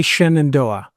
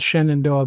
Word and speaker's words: Shenandoah: How they say Shenandoah. It's obviously spelled Shenandoah, but they say Shenandoah. Both are mispronunciations because it's an Iroquois word, Zinadoa, and it means daughter of the stars.